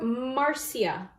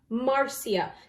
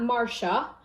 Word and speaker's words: Marcia: And we call her Marcia. Marcia. That's how they pronounce her name in Jamaica, not Marcia, which is the American way.